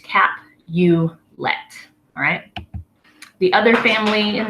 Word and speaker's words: Capulet: the next one is Capulet that is Juliet's last name that's the Capulet family Lord Capulet Lady Capulet the Capulets are the the noble family that Juliet is a part of so that's just a cap you let alright the other family